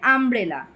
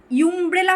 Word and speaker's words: umbrella: এবার যদি বলা হয় যে আমব্রেলা, UMBRELLA, আমব্রেলা, এখানে কি ইউয়ের উচ্চারণটা কি ইউমব্রেলা হচ্ছে? যদি উচ্চারণটা যদি ইউমব্রেলা হতো তাহলে কিন্তু এখানে অবশ্যই এ বসতো, কিন্তু যেহেতু এখানে উচ্চারণটা, প্রোনাউন্সিয়েশনটা এখানটাতে আমব্রেলা হচ্ছে, তাই এখানটাতে অ্যান বসবে,